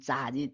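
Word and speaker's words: 昨日: 昨天啊，所以应该是把它念成文言音，念昨日。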